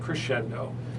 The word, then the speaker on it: Crexendo: He's with Crescendo.